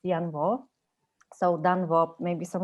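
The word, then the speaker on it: Danh Võ: You write it Dan Vo, but you can't actually pronounce it Yan Vo.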